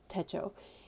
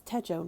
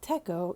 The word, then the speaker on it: Techo: That word is pronounced Techo. In Japan, when you use it as Techo, not Techo, it means planner notebook.